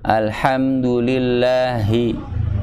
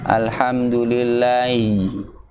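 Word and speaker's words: الحمد لله: Ya, harus disempurnakan dengan bunyi H-nya. Jangan alhamdulillahi. I. Tapi alhamdulillahi. Jadi bukan bunyi suaranya saja, namun makhrajnya yang harus yang pas bunyinya. Ya. Alhamdulillahi. Hi. Ya. Karena kalau kita sambungkan terkadang agak ngilang nih huruf H-nya. Kadang malah ada baca gini, alhamdulillahi rabbil. Alhamdulillahi rabbil. Jadi agak hilang huruf H-nya itu hilang.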